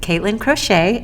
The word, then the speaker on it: Katelyn Crochet: I'm here with Katelyn Crochet. Am I pronouncing that right?